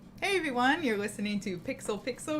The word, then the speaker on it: Pixel x Pixel: everyone you're listening to pixel pixel where the x is silent but our love for